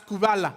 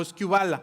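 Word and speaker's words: σκύβαλα: griego es la palabra es kubala o esquiva la no se pueden pronunciar de las dos maneras es cuba la que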